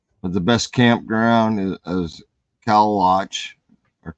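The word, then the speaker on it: Kalaloch: But the best campground is Calawatch, or Claylock as we call it, but it's spelled Calawatch.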